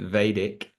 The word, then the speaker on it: Vedic: we pronounce it Vedic Okay, for a Vedic.